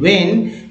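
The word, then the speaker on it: when: होगा, money as एंड वेन, इसमें एच का उच्चारण नहीं होता है, डब्ल्यू एच को वाले क्वेश्चन में एच का उच्चारण नहीं होता है ना, वेन, वेन एच साइलेंट होता है, वेन दे रिक्वायर, सिंस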